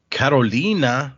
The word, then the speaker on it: Karolina: Uh the final one for this week is Karolina. It's spelled with a K and two I's, so that's why I said it that way.